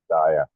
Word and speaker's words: Massia: And Massia, is that how you say it properly? Massia? Messiah.